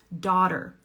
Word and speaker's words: daughter: Daughter. This rhymes with father, father, daughter, okay?